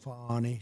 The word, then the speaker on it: Fani: She goes by the name of Fani, you know? even though it's Fani. She wants it pronounced Fani. She's little French, little French accent, and her lover, Wade, right?